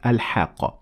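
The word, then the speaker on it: الحاقة: the difference so in the first time i said al hakka and i continued reading i pronounced the te murmuta like any other tech but when i stopped at it i turned the tat marbuuta into a head so i said same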